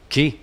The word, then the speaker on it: Key: Today, well, how do you say your last name? Key.